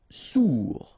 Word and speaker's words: sourd: Sourd, final D not pronounced, O-U together, ou sourd.